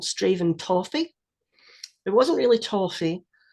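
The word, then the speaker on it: Strathaven: looks like isn't it if you miss out the middle three letters you'll be fine straven stra yeah nearly nearly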